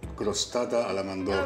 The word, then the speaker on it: crostata alla mandorla: You need to be able to roll your R's to say this. It's called crostata alla mandorla.